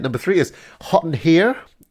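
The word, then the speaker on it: Herre: three is hot and here no no sorry hot and her because it's spelled h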